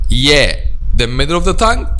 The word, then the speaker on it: ي: The middle part of the tongue touches what lies opposite, which is the roof of the mouth. Ay. Ay. أي أي بني اسمع وصايا يا جماعة. So this is how we pronounce the letter Ya.